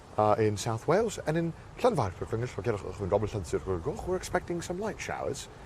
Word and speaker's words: Llanfairpwllgwyngyll: And they had the sign, I'm serious, had the sign out and they were like, Llan, okay, everyone's got that. Vair, okay, nice, good job guys.